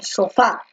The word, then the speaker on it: sofá: dices sopa o tú dices siéntate en el sofá la segunda no entonces la mayor fuerza de